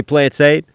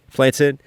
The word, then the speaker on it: plantain: And then they debate on how to say plantain, like how Caribbean people say plantain versus African going plantain, and I'm using plantain like rhyming with plain, but there's a different conversation going on about how to pronounce that, man.